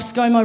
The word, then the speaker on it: ScoMo: Also, funnily enough, ScoMo rhymes with mofo.